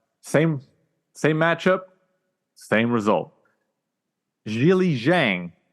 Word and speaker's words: Zhilei Zhang: same matchup same result Jil Jang I think I'm pronouncing it right I think last time I think I I said zil Zang if think it's Jil Jang Jang it'ss the third round